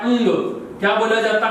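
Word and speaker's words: ङ: इसको बोल देते हैं हड़क। हड़क। ये हड़े नहीं है प्रिय विद्यार्थियों, इसको उच्चारण के माध्यम से बोला जाता है अंग।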